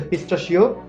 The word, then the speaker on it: pistachio: এটার ইংরেজি যে নামটা হচ্ছে সেটা হচ্ছে পিস্তাশিও বাদাম নাট। পিস্তাশিও নাট মানে পেস্তা বাদাম। পিস্তাশিও বানানটা অবশ্যই একটু মাথায় রাখবেন, PISTACHIO।